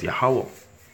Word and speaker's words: Yahawah: So from the right, the stroke is pronounced as Yah. The second one from the right is Ha, the stroke in the middle, Wa, and the one at the end, Ha, but it's pronounced as Yahawah.